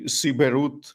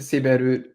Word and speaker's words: Siberut: you've done in, and I hope I'm pronouncing this correctly, Siberut and the Sikere. Yeah, so that is where I've done most of my fieldwork and most of my research. I've been going to Siberut, great job at the pronunciation, since 2014.